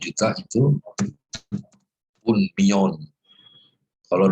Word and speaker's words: millón: Ingat, double L itu double Y. Iya. Million. Union. Betul. Un million itu 1 juta. Nah, kalau juta baru kenal jamak ya. Kalau 1 juta itu un million.